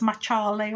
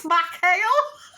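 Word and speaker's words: McHale: I thought his name was Spanish or Portuguese because it's spelled Machle. So I thought it was Machale or something like that. No, I'm an idiot. It's Macale.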